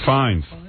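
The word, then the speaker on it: Fiennes: Fines.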